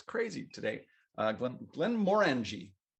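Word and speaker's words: Glenmorangie: crazy today uh glenn glenn morangie that's how they say it plan morenji one like orange orangey like len blen more orangey it's more in g than just origin now more and g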